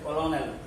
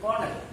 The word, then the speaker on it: colonel: There are people who pronounce it as colonel, looking like a spelling, but it's pronounced as colonel.